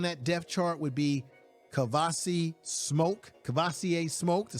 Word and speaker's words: Kavosiey Smoke: Number second on that depth chart would be Kavosiey Smoke, to say it correctly.